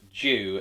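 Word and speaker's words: 獣: When rather it's an artifact of the Sentai, Z for Jew Ranger, as the Zu, part of that word, is pronounced Jew in Japanese, meaning beast, so it's Beast Ranger.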